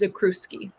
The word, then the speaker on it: Zakrzewski: So my husband is Polish, and it's the American way to say it is Zakrzewski. Zakuski.